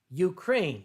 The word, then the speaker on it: Ukraine: So I prefer to say Ukraine, the country. I am trying to teach myself not to say the Ukraine.